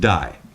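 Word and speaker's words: δεῖ: It's spelled D-E-I, and it's pronounced die.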